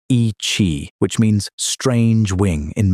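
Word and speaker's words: Yi qi: The species was named Yi Chi, pronounced ee chee, which means strange wing in Mandarin.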